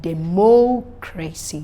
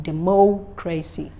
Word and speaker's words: democracy: So stress on the third syllable from the end is given for words ending with CY, TY, PHY, GY, AL. You see the word democracy, democracy, geology, geology, not geology, no.